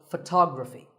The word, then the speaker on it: photography: next word is photography we say photograph but photography so the first syllable becomes and the stress goes to the second syllable ography so photography in the same way